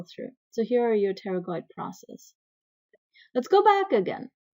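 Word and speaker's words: pterygoid: at the posterior view you can see the teroid process make sure the spelling is right B is silent teroid process you need to know the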